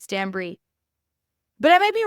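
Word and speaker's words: Stanbury: but it's not Caroline Stanberry it's Stan Bri Bri as in like it obviously it's spelled b r y but it's pronounced like the cheese like bri b r i e different than Stanberry and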